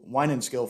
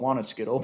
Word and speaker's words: Winenskill: And then when I turned 18, I actually moved to Winenskill Fire Department, or as my friends down here in the South call it, Wanaskittle, because they can't pronounce it.